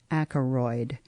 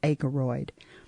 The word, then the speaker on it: Akeroyd: Akaroid. A K E R O Y D. I mispronounced that. It's Aaroid.